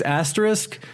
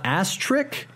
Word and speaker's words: asterisk: also this is not number six honorable mention pronouncing the word asterisk okay it's asterisk it's not Aster and it's not asterik and it's not asterisk it's a s t